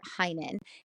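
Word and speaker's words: Hynen: code and you just enter my name Heinen and um hinan is spelled h y NE n it's all one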